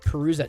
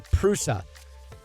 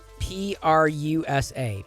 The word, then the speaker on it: Prusa: do you spell it perusa no prusa p-r-u-s-a prusa i'm using a